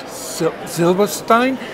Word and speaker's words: Silberstein: It's Richard Silberstein. He encouraged me to pronounce his name with a proper German accent, and having been here for a little while, I find it difficult to make the switch.